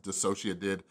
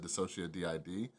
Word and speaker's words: DissociaDID: By the way, somebody pointed out that I pronounced Dissociative improperly. I said DissociaDID, all right?